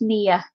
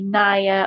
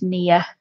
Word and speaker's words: Nia: Oh, Shara, it's pronounced Nia. I know a lot of people say Naya or a few other different ways, but it's near.